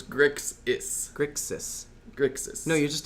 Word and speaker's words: Grixis: I'm pretty sure I'm pronouncing Grixix instead. You say Grixix. Yeah, Grixix. I'm switching the S and the X, so it's Grixis.